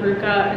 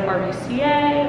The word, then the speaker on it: RVCA: couple years ago that you pronounce it Ruka instead of rbca or I don't know it's Ruka apparently and so I had